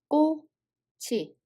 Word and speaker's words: 꼬치: It has a CH sound Batchim and a circle on the following word. So CH sound carried over and the real pronunciation will be 꼬치.